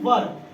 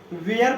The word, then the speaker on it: were: ठीक है, तो हमने यहाँ पे लिखा है यूज ऑफ वॉज एंड वर। इसको जो है कुछ लोग वाज पढ़ते हैं, ठीक है, और इसको वेयर पढ़ते हैं।